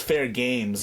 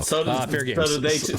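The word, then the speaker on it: Fairgames: It's Fair Games. You have to pronounce the S. You put a $sign, so I didn't know. Fair Games.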